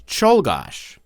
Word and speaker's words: Czolgosz: had a name that was much harder to pronounce. Here's the name. Take a moment to read that. Any guesses? It's Czolgosz.